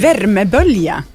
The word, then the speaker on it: värmebölja: värmebölja. Yeah. Yeah. I thought it was. Can you please pronounce värmebölja?